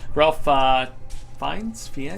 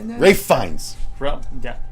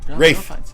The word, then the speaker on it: Ralph Fiennes: Ralph Fiennes? Rafe Fiennes. Rafe Fiennes. Say it right.